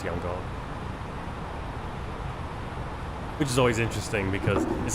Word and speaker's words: Yangon: It used to be Yangon, or the way they used to spell it. Or no, Rangoon. Rangoon. Now it's Yangon.